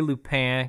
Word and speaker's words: Lupin: I'm going to say Lupin, because I'm a wannabe Frenchy. Because that's how you say it, apparently. Because that's the actual pronunciation. Mr. I took French in high school, always correcting us. Like, it's Lupin. Lupin.